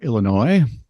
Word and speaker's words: Illinois: So, when Oak Park and River Forest High Schools in Oak Park, Illinois, notice there is an S at the end, but it's not pronounced.